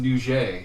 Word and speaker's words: Nugget: And I was taking part of I always want to say Nugget Fringe, but I've heard it's pronounced Nouget.